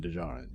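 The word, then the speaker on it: Djarin: to him by din dijaren or din jar and i i keep thinking the d is silent in the second one right you know anyway uh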